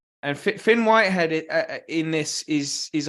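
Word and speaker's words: Fionn: And Fion Whitehead. I think pronounced Finn.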